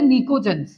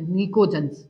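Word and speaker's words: pnictogen: भी नाम होता है इनको बोलते निकोजन इसमें पी साइलेंट रहता है देखो पी साइलेंट होगा इसमें निकोजन ठीक है ये कुछ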